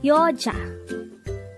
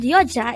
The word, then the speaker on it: 여자: hango word number 125 yoa yo this is pronounced as a two syllable word the first syllable is Yo the second syllable is Ja pronounce it with me y y the word yoa is simply the Korean